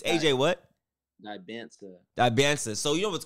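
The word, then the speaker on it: Dybantsa: Dementia? Bro, what? No. No. Dementia's crazy. Hey, wait, how do you say his last name, though, Drifty? It's AJ what? Dibansa.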